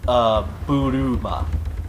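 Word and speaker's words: ブルマ: It's pronounced Buruma. Bloomer. Buruma. Ballooma. Like think of balloon, except with the at the end.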